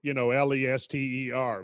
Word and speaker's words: Leicester: Everybody would think like, Lester, Leicester, right?